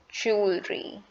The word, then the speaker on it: jewelry: this how do you pronounce it the correct pronunciation of the word is jewelry jewelry the w in the wood is completely